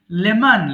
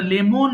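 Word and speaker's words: lemon: মত করে উচ্চারণ করো লেমন লেবু আমরা লেমন বলি উচ্চারণ হবে কি লেমন লেমন আবার লেমান এরকম হবে না লেমন লেবু লেমন লেবু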